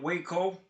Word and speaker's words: Waco: second because you mentioned that you were in Waco. Am I pronouncing that correctly?